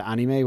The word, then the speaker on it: anime: cover them all, and he pronounces it anime, which is technically the correct way to say it.